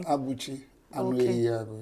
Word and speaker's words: Abuchi Enugu: Sir Abuchi ENUGU. Yes, that's the correct way to say it, the correct pronunciation.